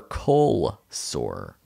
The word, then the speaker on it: cold sore: safe for us or people say cold sore and like you just sort of dropped the d cold sore cold yeah